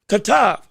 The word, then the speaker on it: Katav: When he fought against Katave, oh no, Katav, my apologies. I'm trying to say the name correctly. I think it's Katav, is how you say it.